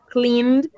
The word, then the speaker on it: cleaned: Con d y e, ed, pero la pronunciación es con d, cleaned.